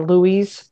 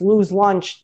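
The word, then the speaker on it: Louis' Lunch: totally like lose lunch it's spelled l-o-u-i-s it's you know Louise but it's Lou's lunch they're the ones that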